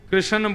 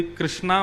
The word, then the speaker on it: कृष्ण: लाल की जय बंधुओ कई लोग इस नाम को अशुद्ध बोलते हैं कई लोग कृष्ण बोलते हैं कई लोग कृष्ण बोलते हैं कोई कृष्णा बोलता है भगवान का नाम शुद्ध उच्चारण करो नाम क्या है कृष्ण भगवान जय श्री कृष्ण